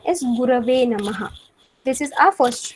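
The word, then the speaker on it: गुरवे: Now, the most common mistake which we all make intentionally, unintentionally, is we say Tasmai Shri Guruve Namaha. So the correct pronunciation is Gurave Namaha.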